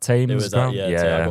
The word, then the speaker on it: Thame: other club uh is it tame or tame pronounced tame United?